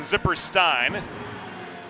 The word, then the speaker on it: Zipperstein: Correction, Zipperstein. She holds the Ein pronunciation of the E-I-N at the end of her name, as opposed to the Een, which we sometimes see.